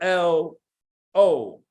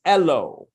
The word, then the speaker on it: Elo: We're just going to call you L.O. I slapped an E at the beginning to advocate for my new name's phonetic pronunciation and to avoid being called Lo. It's Elo, eloquent, elocution, Elo governor, as in Bustelo, that runs through my veins.